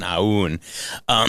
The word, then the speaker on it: Aoun: I get a real Warren Zevon Werewolves of London thing going on, Aoun. So that's how you say it, and I just love that.